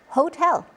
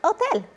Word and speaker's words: hotel: The H in Spanish is silent. It's not hola, it's hola. It's not hermano, it's hermano. It's not hotel, it's hotel. So here's your quick recap.